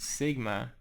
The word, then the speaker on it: sigma: symbol here is a lowercase s in Greek pronounced Sigma and this symbol here is the lowercase m